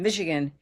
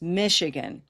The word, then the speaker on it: Michigan: So instead of Michigan, it's Michigan.